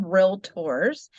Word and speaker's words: Realtor: the California Association of Realtors, and Hmm. that's not to be confused with a realtor. It's called Realtor. There's There's two syllables. there's no I in Uh, realtor.